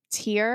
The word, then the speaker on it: Tyr: I think his was Tyr. Tyr, yeah. Tyr. Yeah. The only reason I knew how to pronounce Tyr is because there's a fitness company called Tyr.